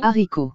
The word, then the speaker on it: haricot: A is pronounced as A, as you already know. Haricot. I is pronounced as E. And T, the last T is not pronounced. So we pronounce it as haricot.